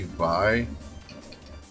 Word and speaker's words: Vay: It's actually it's supposed to be Vay. They actually say Vay in the game, but I would pronounce Vay V-A-I. It's just me. I don't know. As a kid, I always called it that.